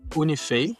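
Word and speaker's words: UNIFEI: The team's roots go back to 2001 at Unifi. Am I saying that right? Yeah. Uh like we call it Unifi. Unifi.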